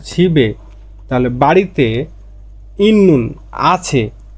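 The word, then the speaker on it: 집에: ছিবে বাড়িতে, ছিপ মানে বাড়ি, আর এই যে মানে বাতে, তাহলে বিয়োগটা চলে যাবে, তাহলে উচ্চারণটা হবে ছিবে।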